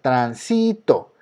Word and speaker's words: tránsito: Si yo escuché la palabra transito, aquí se encuentra, en este caso aquí se encuentra la sílaba tónica, transito.